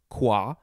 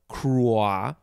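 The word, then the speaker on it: croix: r o i x that's pronounced qua or crois if you want to get that r sound then de and then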